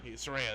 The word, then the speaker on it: Saraya: Saraya, that's how you say it.